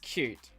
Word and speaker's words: Qt: you just call qtqt it is pronounced cute yes i called qtqt